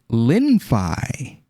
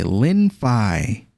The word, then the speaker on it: Lenfi: gone from a a d a finance to linfai l-e-n-f-i Lin Phi it's a fully decentralized lending and borrowing protocol